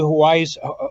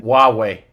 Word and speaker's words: Huawei: UK and UK intelligence if they're connected to Hawaii's, if I'm pronouncing it right, Huawei. 5G. What is it? I'm sorry? Huawei.